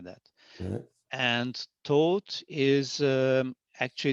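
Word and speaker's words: Tóth: So Laszlo, and the taught would be like as if without the H. So taught, like the English word, the past tense of teach, taught. You know, the same. Okay. That's the same pronunciation. Right. Well, I've never have got that. So yeah, I mean, it's in Hungary. It's quite common to have like H in the end of the names, but it's like a silent H. You don't really pronounce it.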